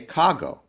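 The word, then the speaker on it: κἀγώ: But in order to say this more smoothly, rather than kai ego, they say kago.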